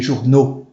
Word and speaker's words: journaux: Un journal, des journaux. Un gâteau, des gâteaux. Tem o X não pronuncia.